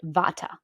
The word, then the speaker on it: Vata: the DOA called V here in the west we pronounce it Vata a vaa person is